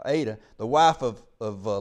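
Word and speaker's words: Adah: the memory of ada how you need to pronounce how i need to pronounce that now aydah the wife of of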